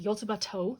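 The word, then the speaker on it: Yotsuba&!: about that but someone informed me this is pronounced yotabato this and symbol is the toe but the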